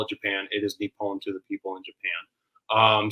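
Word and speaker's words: 日本: Nihonjin is like it's the term for a local because like they say it like Nihon, which is like Nippon. Nippon is how they actually say Japan.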